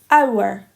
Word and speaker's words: hour: So, hour. It makes the ow sound, so we'd say an.